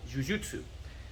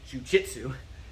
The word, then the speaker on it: jujutsu: judo and you look at the kanji or jujutsu or as we say jiu-jitsu you know they have the same jew in